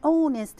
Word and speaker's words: honest: an important note that the letter h sometimes can be silent we don't pronounce it so here we say an honest man an honorable person